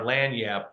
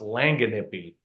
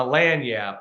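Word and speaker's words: lagniappe: lanap but uh um it's spelled it looks like it should be pronounced langen nippi um but when when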